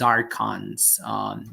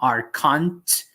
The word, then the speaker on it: archons: The correct pronunciation is archons. It's not archont, it's archons in English, just for your reference.